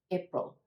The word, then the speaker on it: April: sound like April April again we're going to open up the mouth a bit let the chin come down for the a April April and that second syllable is really quick a combination of the P R and L consonants pro-pro it's not April April